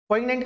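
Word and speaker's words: poignant: पोइग्नेंट का मतलब क्या होता है, पोइग्नेंट, ठीक है, इसको जी यहाँ प्रोनाउंस नहीं होते, पोइग्नेंट पढ़ते हैं इसको।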